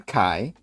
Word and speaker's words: Kai: Yeah, no, I get that, Kays, and do you say Kays or Kai? How do you say that? Well, it's Kai.